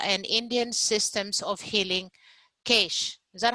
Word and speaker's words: CAISH: With over 2 decades of experience, she has spearheaded Center for Ayurveda and Indian Systems of Healing, CAISH. Is that how I pronounce it, CAISH?